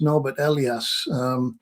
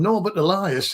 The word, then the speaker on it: Norbert Elias: The civilizing process, Norbert Elias, his actual pronunciation of his name was Norbert Elias, but he got so sick of people calling him Norbert Elias in England that he started calling himself Norbert Elias, which is a remarkable adaptability.